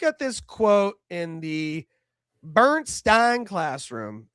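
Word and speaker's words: Berenstain: But they actually spell it Bernstein, like Stain.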